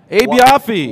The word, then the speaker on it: Abe Yoffe: Abe Yoffe. Y-O-F-F-E. Is that how you say it? Absolutely.